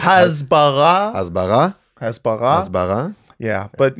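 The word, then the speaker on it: הסברה: Excuse me, but you're mispronouncing the word. It's Hasbara.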